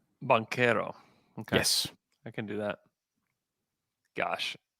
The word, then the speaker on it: Banchero: music to my ear i will never let you say banchero though you need to say bankero bankero i can do that